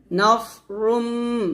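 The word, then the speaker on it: نَصْرٌ: আবার ওয়া উখরা তুহিব্বুনাহা, নাসরুম, নাস, নুন সাদ জবর, নাস, সাদ মোটা হবে, নাসরুম, রুম গুণনা করবেন, নাসরুম মিনাল্লাহি, মিনাল্লাহ, লফজুল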